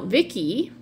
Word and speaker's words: Vicki: Now, Vicki, rhymes with Ricky, our protagonist of the first MAGA Hat Romance.